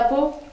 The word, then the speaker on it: Pau: Bah oui, Pau avec un P. Alors Pau. Oui, comme ça s'écrit, pareil. Pau.